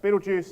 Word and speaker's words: Betelgeuse: All right, and then you have, I believe it's pronounced Betelgeuse, and then you have the largest stars out here, which are about 300 times as massive as our sun.